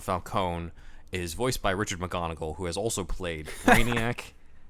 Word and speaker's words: McGonigal: McGonigal. Yeah. Say it Scottish is funny. McGonigal. Well, he's Sorry, American no born. offense. No offense, Mr. McGarnagle.